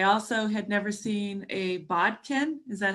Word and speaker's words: bodkin: And I also had never seen a bodkin. Is that how you pronounce it? Yes, bodkin. Yeah, bodkin.